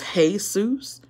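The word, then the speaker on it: Jesús: to pronounce that is hey soos and that's Mexican that is not Hebrew okay also you go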